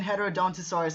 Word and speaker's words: Heterodontosaurus: The don't in Heterodontosaurus and Heterodontosaurus should be pronounced like the don in Iguanodon.